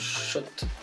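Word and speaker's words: Schott: ça se passe comme si oui ça se prononce shot et poste comme je voulais vérifier une certaine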